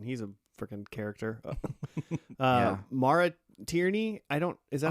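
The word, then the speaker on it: Maura Tierney: Uh, Mara Tierney.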